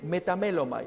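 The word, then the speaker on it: μεταμέλομαι: En griego se dice metamelomai, esa es la palabra, la pronunciación del griego.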